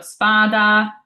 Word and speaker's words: spada: So spada means sword. We've got our S here. It's a singular S, but it's not sandwiched by vowels, so it's a true S sound.